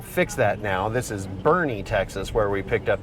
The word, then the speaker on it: Boerne: manager at AutoZone that this town is pronounced Bernie so I will fix that now this is Bernie Texas where we picked